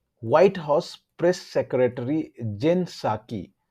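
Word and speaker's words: Psaki: white house press secretary जेन साकी, यहाँ P silent है गाइस, जेन साकी said the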